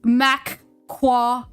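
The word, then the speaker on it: Macquarie: Should I leave him a comment saying it's pronounced Mquari?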